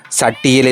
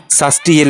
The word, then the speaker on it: சஷ்டியில்: நமக்கு கிடைக்கும் என்பது நம்பிக்கை சட்டியில் இருந்தால் தான் அகப்பையில் வரும் என்ற மறவிய பழமொழி ஒன்றை கேட்டிருப்போம் ஆனால் உண்மை இது அல்ல சஷ்டியில் இருந்தால் தான் அகப்பையில் வரும் என்பதுதான் சரியான உச்சரிப்பாகும் அதாவது சஷ்டி திதியில் விரதம்